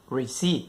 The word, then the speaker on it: receipt: า เ ป็ น ค ำ ว่ า receipt น ะ ค รั บ receipt ไ ม่